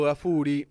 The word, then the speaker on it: Gaffuri: Estamos conversando con Gafuri. ¿lo pronuncio bien el apellido? Disculpe. Sí. Bien, perfecto. Gafuri con doble F.